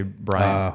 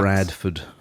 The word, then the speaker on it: Bradford: I'm sorry, what I got to go back to is Bradford Cox. I keep wanting to say Brian. I said Brandon as well. Sorry, Mr. Cox. Mr. Cox. Bradford.